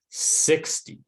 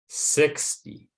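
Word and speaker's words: sixty: examples before so let's just look at and pronounce these two words again the first word on our screen is 60. 60.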